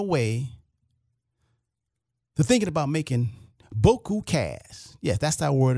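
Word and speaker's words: beaucoup: But the real pronunciation of it is boko, bio.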